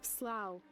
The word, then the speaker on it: slough: Slough. Or slough. Can also be pronounced slough.